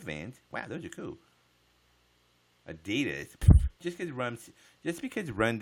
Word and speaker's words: adidas: is it Eddie - it's not Eddie dad no one says Eddie - you run DMC